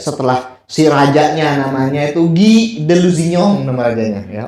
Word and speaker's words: Guy: namanya Guy, tulisannya Guy kan bacanya Guy kan, Guy de Lusignan.